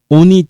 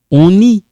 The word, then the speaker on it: on est: On est allé prendre un verre chez Papa Do. Okay? One more time. Je suis sorti avec deux copains. Here we kind of link it. On est.